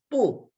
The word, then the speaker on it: bu: it is you is so bu is boo so here is second